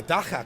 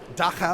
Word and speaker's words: Dagga: am here with the Daka couple you said it correctly South Africa I I studied I'm a radio guy I have to learn how to pronounce things so uh Daka of course we speaking